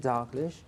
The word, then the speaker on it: Dalghish: guest Mr Robin Robin dlish is it a way to pronounce it dlish dlish dlish so the stress is on the second syllable and we do not